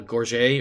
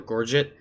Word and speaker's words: gorget: collar piece is called a gorget or gorget depending on how you pronounce it but I think